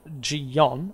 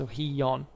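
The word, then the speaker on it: Gijón: in Astoria was uh jiyon I think it's pronounced oh hiyon I think um was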